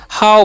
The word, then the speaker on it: how: एच का उच्चारण क्या होता है, ह, और ओ डब्ल्यू का उच्चारण यहाँ पर आओ होता है, इसीलिए हम किसे क्या पढ़ेंगे, हाउ पढ़ेंगे।